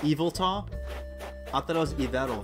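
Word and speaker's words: Yveltal: e that's all evil tall you know what's pronounced evil tall i thought i was ever for the longest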